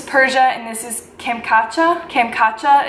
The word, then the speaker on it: Kamchatka: Kamchatka is how the internet said you pronounce it.